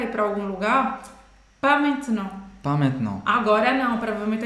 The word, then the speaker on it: maintenant: Main, como uma mão, main, main, main, main, main, main, main, é nasalado, tá?